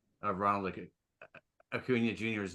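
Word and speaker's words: Acuña: be as good as Akuna Akuna you'll never be as good as Akuna and Bryce turns around and says pronounce his name right it's a aunia it's brilliant because because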